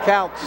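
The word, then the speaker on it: Kautz: What is the pronunciation of the Clearview wrestler? Counts? K-A-U-T-Z? Counts. Counts.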